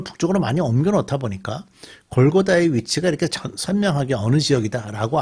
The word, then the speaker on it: 골고다: 어 지금 성벽을 북쪽으로 많이 옮겨 놓다 보니까 골고다의 위치가 이렇게 선명하게 어느 지역이다라고 알기가 좀 어려워졌습니다.이 골고다라는 발음은 히브리어로식의 발음이고요. 해골 같이 생긴 곳이라는 그런 의미를지면 그러니까 그 골고다 언덕 자체가 좀 해골 같이 생겼던 거 같아요.